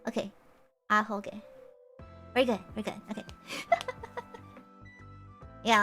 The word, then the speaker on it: Ahoge: I said the first syllable but stopped, alright? It's Ahoge. Okay. Ahoge.